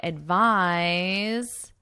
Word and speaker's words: advise: And I can say, I advise you to take medication. Advise, advice. So notice the pronunciation difference.